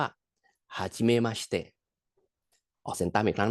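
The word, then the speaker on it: はじめまして: ที่ ได้ รู้ จัก ใน ภาษา อีปุ่น เรา เลย ออก เสียง ว่า ฮาชิม มาชิเตะ ออก เสียง ตาม อีก ครั้ง นะ ครับ ฮาชิม มาชิเตะ คำ ต่อ ไป ครับ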